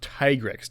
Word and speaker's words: Tigrex: to correct you on it's pronounced tigrex not I don't care what world says it is always tigrex because he's a tiger and a T-Rex put together nope it's a Spanish